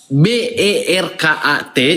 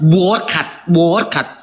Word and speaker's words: Berkat: Contohnya nama saya Berkat. Di dalam kamus KLBI bahasa Indonesia BERKAT dibacanya Berkat, bukan Borkat.